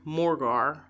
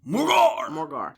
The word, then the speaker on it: Morgawr: the Cornish sea monster Morgar. I think that's how you say it. Morgar? That's how I say it. Yes. Morgar.